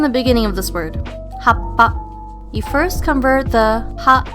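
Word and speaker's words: はっぱ: Oh, by the way, when pronouncing words with the small tsu or the double consonants, you must pause where the small tsu is located. Most importantly, you do not ever pronounce it as a tsu. For example, for the word happa, when you use a small tsu in the middle, it will never be pronounced hatsupa.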